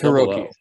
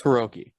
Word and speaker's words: Hiroki: Is it a Hiroki or a Rookie? Because it's Hiroki. It's Hiroki. I know that. I've heard his name said.